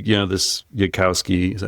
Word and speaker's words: Yudkowsky: So let's say this Yudkowsky, is that how you say his name? I believe so. Yeah, Yudkowsky.